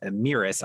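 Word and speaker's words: Mēris: And the botnet is named Meris. I'm pronouncing it that way because the way that it's written actually has like the long E symbol on it. So I'm assuming that's how it's pronounced.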